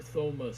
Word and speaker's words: Thomas: still watches him dexter thomas says you don't pronounce the h in my name well then why is